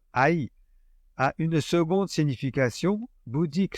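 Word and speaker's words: 愛: pour le mot amour qui en japonais se prononce Aï a une seconde signification bouddique celle-là traduite par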